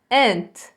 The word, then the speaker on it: aunt: Presta atenção na pronúncia desta palavrinha. A gente tem um U aqui, mas esse U a gente não fala, tá? Ele é um U, o U é mudo. Então, e esse A tem som de E. Então fica aunt, tá?